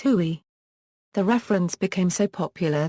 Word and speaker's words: Huey: its designation of H1 which came to be pronounced as huie the reference became so